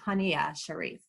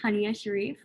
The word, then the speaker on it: Haniya Shariff: my name is pronounced tanya sharif yeah you almost got it i just if anyone who knows me is watching this knows that i always say it's honey with an uh um just to help